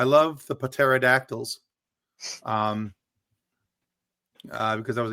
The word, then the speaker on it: pterodactyl: Cuz the P is silent.